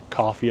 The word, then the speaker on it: Ko-fi: I want to thank the people who've done one-time contributions through PayPal and the Ko-fi option. Coffee, I guess is how it's pronounced.